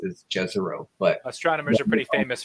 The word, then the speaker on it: Jezero: I said Jezero, but would Jezero be more correct? Most of the community calls it Jezero.